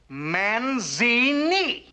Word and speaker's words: Manzini: Manzini. Kind of rhymes with Houdini, don't it?